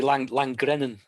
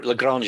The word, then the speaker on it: Lagrange: The Langrennen points. Is that how we pronounce it? The L1, L2. So it's L2. It's parking. The second Lagrange Yeah. point. Yeah. Well, Lagrange, isn't it?